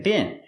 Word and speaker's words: been: Pronunciation, been. Use the short is sound like this is. Not been, but been.